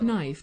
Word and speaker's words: knife: I use a sharp knife to easily cut the steak. Knife. The K is silent.